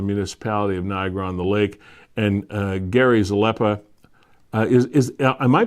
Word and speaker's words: Zalepa: of Niagara-on-the-Lake, and Gary Zalepa. Am I pronouncing Gary? I'm sorry. Am I pronouncing Gary's name correctly? Yeah, no, you nailed it.